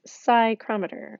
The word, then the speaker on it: psychrometer: that is called a psychrometer this p is actually silent so we don't actually pronounce the P you pronounce this psychrometer kind of like psych